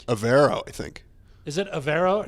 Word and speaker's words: Evero: Evero. No, Avero.